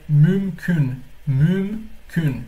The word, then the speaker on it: mümkün: Por isso que aqui é mümkün. Primeiro a gente pronuncia o M, mümkün mü, e depois tem mais um M aqui para complicar ainda mais a nossa vida.